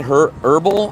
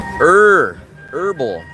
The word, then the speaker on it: herbal: The H is silent. Herbs. You get rid of the H. You don't say the H. Herbal. Herbal like earth.